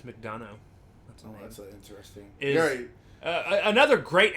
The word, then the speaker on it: McDonough: Anyways, but yeah, Neil McDougall. Actually, it's McDonough.